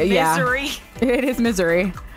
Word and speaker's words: Missouri: I said it wrong all the time. I'd always be like, yeah, in Missouri. And they're like, no, it's Missouri. And I'm like, no, that's not it. It's not how it's spelled.